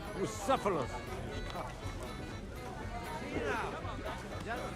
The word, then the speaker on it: Bucephalus: And I'm telling you, we won't get What kind of name is Bruce Phallus anyway? It's pronounced Bucephalus.